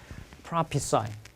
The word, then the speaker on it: prophesy: 발음 어떻게? prophesy.